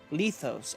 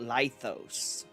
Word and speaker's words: Lythos: to leave those Castle lethos okay I've been pronouncing it lythos it's always interesting to see the difference in actual pronunciations to what I was thinking in my head because I was thinking